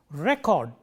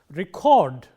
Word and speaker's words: record: Record, stress on the first syllable as a noun. Record, stress on the second syllable used as a verb.